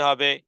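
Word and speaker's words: ح: আল হাজ্জু আল হাজ্জু এরপরে হরফ হা এটি গলার মধ্যখান থেকে উচ্চারণ হবে এবং উচ্চারণে আওয়াজকে কঠিন করতে হবে প্রয়োজনে ঘাড় বাঁকা করে হলেও দেহকে বাঁকা করে হলেও গলার মধ্যখান থেকে এভাবে করে বলতে হবে হা আহাদ আহাদ আহাদ এরপরে খ গলার শেষ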